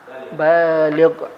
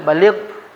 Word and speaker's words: baligh: Hati-hati Bapak Ibu penggunaannya nanti. Syarat puasa salah satunya baligh. Ah salah kita pengu pengucapan yang bendanya adalah ba baligh. Baligh.